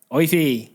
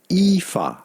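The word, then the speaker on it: Aoife: a o i f you can pretty much ignore the first two letters when you pronounce it and simply say EA e EA EA it's not o it's EA we are way off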